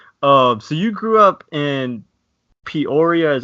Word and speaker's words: Peoria: to your childhood so you grew up in Peoria is how you say it Peoria Arizona right yes sir so that's the right